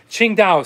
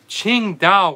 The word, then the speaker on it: Tsingtao: you've been in china you know ching dao so it's spelled t-s-i-n-g t-a-o so the qing dao where it comes from